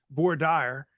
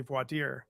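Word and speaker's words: voir dire: that as you sit during the void deer process or as a judge in Texas once called it boar Dyer um but it's really voitier um pronunciations then and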